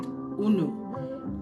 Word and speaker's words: unu: We have a very very popular word that we use and we pronounce it unu. This is the ebo word una.